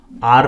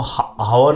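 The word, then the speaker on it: hour: पर H silent हो, आर में एच साइलेंट होता है ना, हम इसको हावर नहीं पढ़ते, आर पढ़ते हैं।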